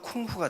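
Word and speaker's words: 功夫: 그러면 요걸 공부를 중국 발음으로 하면 쿵후가 돼요.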